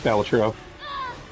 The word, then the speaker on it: Balatro: Is this a Balatro question? Is it a Balatro question? Kill you. Just like this Or one. is it a Balatro? Local Thumb corrected everybody, it's Balatro.